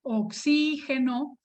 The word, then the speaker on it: oxígeno: aquí oxígeno pronunciado así oxígeno que aquí tengo yo el símbolo del oxígeno aquí me estoy refiriendo al sustantivo oxígeno es una palabra esdrújula lleva tilde pero esta palabra es